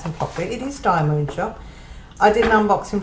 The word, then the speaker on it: DIYMoon: I will pronounce them properly. It is DIYMoon shop.